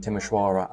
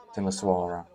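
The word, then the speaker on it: Timișoara: place or name and there's a big difference between timisoara and timisoara the shirt and the S even though I'm not asking anyone to have perfect pronunciation this the difference between the S Niche sound is quite um obvious so yeah it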